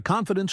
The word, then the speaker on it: confidence: Example, my confidence grows every day. Pronunciation tip confidence. Stress on the first syllable.